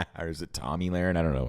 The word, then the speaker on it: Tomi Lahren: Or is it Tomi Lahren? I don't know how to I don't say her name. I don't know how to say her name there. Tomi Lahren.